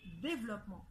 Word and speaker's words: développement: est ce qu on le prononce on dit développement on prononce pas eu le mot par exemple boulevard